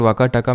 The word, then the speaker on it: वाकाटक: तो एक तरह से इनडायरेक्ट कंट्रोल वाकाटका में किसका चला गया, वैसे इसको वकाटक प्रोनाउंस करते हैं, ठीक है, वाकाटका तो मैं प्यार से बोल देता हूँ, ठीक है।